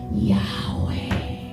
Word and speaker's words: Yahweh: El hebreo no tiene vocales, solo consonantes. Ahí lo que él estaba diciendo era Yahweh.